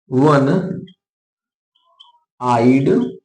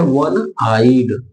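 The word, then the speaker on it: one-eyed: जैसे वन आइड मैन अब देखो शुरुआत यहां ओ से हो रही है लेकिन जब हम पढ़ रहे हैं तो प्रोनंसिएशन कैसे है वन आइड ठीक है तो शुरू में जो प्रोनंसिएशन किया वो क्या आया व आया क से य के बीच में व आ रहा है ना तो क्या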